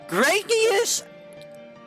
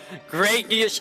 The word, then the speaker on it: Gradius: Um, Graius. Graius is uh I'm going to say it right now. Graius is a hard game. Gradius is in fact a pretty hard game.